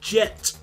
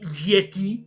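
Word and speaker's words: Jette: there's a SN called Jet which I feel like I'm pronouncing incorrectly. There's going to be like one Belgian viewer teleport again going there actually it's pronounced Yeti Yeti which okay fine whatever.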